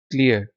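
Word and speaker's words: clear: tetanus तशन्नज lock जो क्लियर साफ spotless antiseptic hygienic स्टेरइल ठीक है वंड जख्म इंजरी थर्ड आर्म कट अच्छा अगेन ये क्लियर में भी आर साइलेंट है क्लियर क्लियर ब्रिटिश एक्सटेंट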